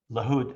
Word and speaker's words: LaHood: LaHood, LaHood, as she pronounces it correctly, I gave it its Arabic pronunciation.